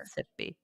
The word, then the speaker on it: Mississippi: And again, guys, when you see that, just slow down and voice every syllable. You can get it right if you just, it's not tricky in the sense that it's going to confuse you like California or Georgia at the end. Just repeat say the syllables, Mississippi, and then put it together.